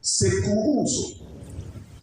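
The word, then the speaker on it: κηρύσσω: Un autre mot qui se prononce sekourouzo.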